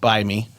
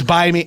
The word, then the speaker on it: Bite Me: He's on this app, Buy Me. It's Buy Me. It's spelled Bite Me, but the T is silent, and you're supposed to know that it's either it's a fake.